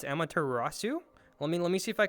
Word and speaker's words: Amaterasu: I believe it's Amaterasu. Let me see if I can take a look at the notes correctly. I may have gotten that butchered. Nope, that was perfect. Amaterasu.